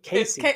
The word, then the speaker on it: Casey: So it's not Cassie. You're right. It's Casey. I said the same thing last week. She said it's pronounced KC.